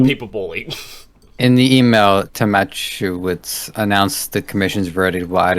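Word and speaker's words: Tomaszkiewicz: I think the S is the K. I think that's pronounced like a ch. So I think it's Tomachowicz. Okay, we'll go with that.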